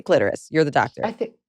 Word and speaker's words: clitoris: sure which is correct I've always said clitoris um I'm going to say clitorus just rhymes with Dolores like on that Seinfeld episode um so when you